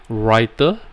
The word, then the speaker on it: Rytr: you have tried before writer right which is spelt rytr i have spoke to